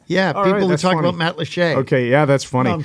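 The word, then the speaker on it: Matlacha: that's spelled m-a-t-l-a-c-h-a and it looks like it should be pronounced Matt lacha or something yeah it looks like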